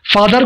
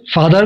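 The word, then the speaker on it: father: फादर को America में फादर बोलते हैं और ब्रिटेन में फादर को फादा बोलते हैं, फादा।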